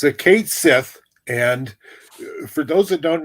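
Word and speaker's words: Cat Sìth: All right, Tim, since you can pronounce it, tell us about the Cat of the Mounds. Okay, it's a Kate Sith, and for those that don't know, Ireland is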